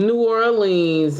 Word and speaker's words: New Orleans: And she was like, "We're gonna go to New Orleans, and New Orleans is how you say it."